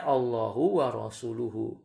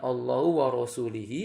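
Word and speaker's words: الله ورسوله: rasul-nya lemak tuh faalaihi makanya bacanya Allahu wa rasuluhu bukan Allah warosulih ia atau Allah warosulahu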